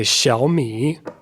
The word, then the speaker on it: Xiaomi: So we got two third tones. So what happens when you have two third tones is the first part of the word changes to a second tone. It's just a rising tone.